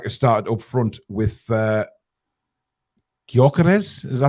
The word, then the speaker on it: Gyökeres: Yes, Isak has started up front with Gyökeres. Is that how you pronounce it, Alex? Gyökeres, yeah.